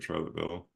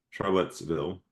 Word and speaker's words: Charlottesville: Um, I had to refresh my memory of Charlotteville. Charlottesville. I can't even say it right.